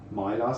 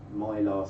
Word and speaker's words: Mylar: Mylar star, because Mylar rhymes with star.